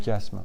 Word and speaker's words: chiasme: Ça s'appelle un chiasme.